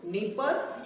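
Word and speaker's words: Dnieper: है डॉन और Danube N से नीपर और निस्तपर में डी साइलेंट भी है ठीक है ध्यान देना नीपर में क्या है नी सॉरी डी जो है साइलेंट है तो डी से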